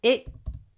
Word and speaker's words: extremely: If it's extremely, we stress, we say extremely. Extremely, and yet еще много я, extremely. Because с, т, ш, р, и, y. Six sounds in one syllable.